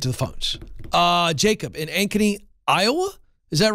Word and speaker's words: Ankeny: I called about a month ago, so you said Ankeny right.